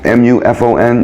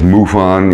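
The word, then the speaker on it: MUFON: one is muon you know about them muon mu U fo n you can look them up I forget exactly what the acronym stands for but you say it as muon you know you don't pronounce it as Mu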